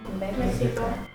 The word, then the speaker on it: México: México. México, México. Bueno, decimos México, pero se escribe con X.